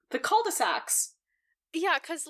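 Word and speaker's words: culs-de-sac: But they have a whole thing about, like, how in French, the plural of cul-de-sac is cols de sac, but the S, you don't pronounce it, so it's just... Oh, it's still cul-de-sac, so what's the point?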